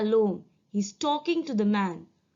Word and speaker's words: l'homme: The other example is il parle à l'homme. He's talking to the man. Now H is a semi-vowel, or we can say H is silent.